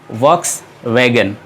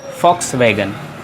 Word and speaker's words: Volkswagen: तो इसे आप नॉर्मली प्रोनाउंस किया जाता है वॉक्स वैगन, लेकिन ये एक गलत प्रोनाउंसिएशन है. और ये एक जर्मन कार कंपनी है जो कि काफ़ी फेमस है और इसे हम प्रोनाउंस करते हैं फॉक्स वैगन, फॉक्स वैगन.